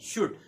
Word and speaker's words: should: है शुड एसएचओ यूआईडी शुड शुरू करते हैं इसमें ऐड साइलेंट होता है कई बच्चे इसको फोल्ड बोलते हैं तो इसका सही अर्थ